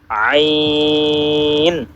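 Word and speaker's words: ع: আমরা গলায় যদি একটা প্রেসার ক্রিয়েট না করি তাহলে কিন্তু আমাদের এই দুইটা হরফের উচ্চারণ শুদ্ধ হবে না।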